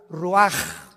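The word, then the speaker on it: רוּחַ: Así como suena, se pronuncia la CH en hebreo como J, Roach.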